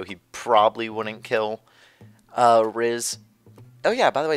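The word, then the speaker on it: Rhys: an archer so he probably wouldn't kill uh Riz. Oh yeah, by the way, it's pronounced RZ, not Rise.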